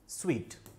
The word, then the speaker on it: suite: अब बहुत सारे लोग अलग अलग बोलते हैं, कुछ लोग इसको सूट बोलते हैं, कुछ लोग उसको सूटे बोलते हैं, बहुत अलग अलग प्रोनाउंसिएशन जो है निकल के आते हैं, क्योंकि अपन मारवाड़ी लोग हैं, अलग अलग प्रोनाउंसिएशन निकलते हैं। तो इसका जो सही प्रोनाउंसिएशन है वो है स्वीट। बोलते तो क्या है, स्वीट, स्पेलिंग क्या है, SUITE।